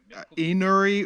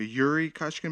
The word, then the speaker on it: Iouri Kochkin: Pride 22 where Quadro's called him Ennouri or Ekuree Kochkin instead of uh Yuri Kochkin. Maybe that's how you say it in Japanese, Ennouri.